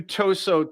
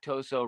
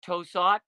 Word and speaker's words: Tosot: some different interpretations about how to pronounce that name I I called it toot for a long time until I heard you say it and I was like I'm going to go with what Jerry says hey I did it